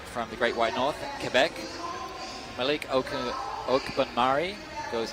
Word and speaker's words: Quebec: is Heat number 30 I mean you say Quebec Canada Quebec Quebec that's how they say it up there Quebec I mean it's not